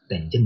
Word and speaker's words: tangent: Tangent ya bacanya tangent.